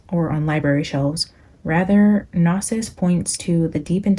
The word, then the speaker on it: Gnosis: Gnosis or Gnosis. I think somebody told me that G is silent.